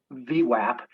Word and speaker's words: VWAP: Yeah, the anchored volume weighted average price, pronounced Vwap, is simply a representation of the average price paid for the stock from any period in time.